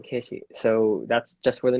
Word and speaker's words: keshi: like middle school and they would uh pronounce my name as keshi um keshi so that's just where